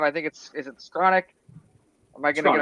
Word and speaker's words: Skowronek: to say his name, I think is it Skronik? Am I going to get it? Because I think Skowronek. yeah. Skowronek and Michael Pruitt and all. He You said said I can't throughout the spell it.